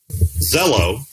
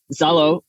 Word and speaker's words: Zaalo: On the podcast today, we have Zaalo. No. Zaalo.